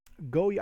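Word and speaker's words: Goyard: month this is a go yard go yard go yeah I get you not supposed to pronounce the D and it's funny because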